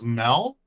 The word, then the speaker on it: Mel: your name fan sir my name is Mel I'm you know kind of rhymes with Belle amazing your name's Mel